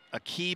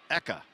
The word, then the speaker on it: Eka: Here's a key, but I'm being told actually it's Eka. Eka. We'll get that right at some point. Eka. So Eka. I want to make sure we pronounce her name correctly.